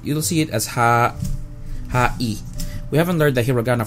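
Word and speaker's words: はい: Bros high five hi this word sounds like high or high however remember how hi how e sounds like e the word hi is actually pronounced with ha e ha but since Japanese language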